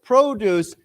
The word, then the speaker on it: produce: say to produce right so produce this word the accent is on the first syllable produce. Okay. But normally if we say I want to produce something, then it's on the second syllable to produce something. So the the accent changes the way you say it.